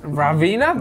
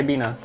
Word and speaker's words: Ribena: Ravina? There's no Ravina, it's a Ravina. I. Ribena.